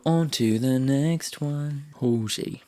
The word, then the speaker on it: Halsey: Halsey. See, I'm saying it right today. I kept on saying Halsey instead of Halsey, and my friend keeps on telling me off.